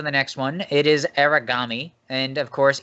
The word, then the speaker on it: Aragami: And, of course, Eli, you will correct me on that pronunciation because I feel like I butchered it. It's just Aragami. You are only off by one sound, so it's not that big a deal.